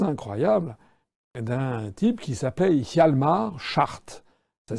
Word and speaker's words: Hjalmar Schacht: le parcours assez incroyable d'un type qui s'appelait Hjalmar Schacht. Ça s'écrit H-J-A-L-M-A-R, c'est son prénom, et Schacht, c'est S-C-H-A-C-H-T.